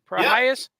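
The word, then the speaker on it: Prohías: Oh, Prohias.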